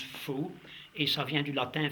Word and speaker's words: Folx: Il s'écrit d'ailleurs Folx, F-O-L-X, ça se prononce faux, et ça vient du latin fauces, qui veut dire gorge.